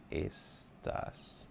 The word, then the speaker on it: estás: Como estás? Don't forget your accent on the A.